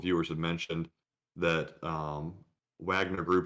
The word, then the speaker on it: Wagner: have mentioned that um wagner group is actually pronounced wagner group um since they're german so i guess that would be the case so the next question